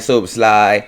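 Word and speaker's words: Szoboszlai: Say his name right, Soboslai, from Leipzig.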